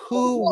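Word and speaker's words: Huu: Who Win?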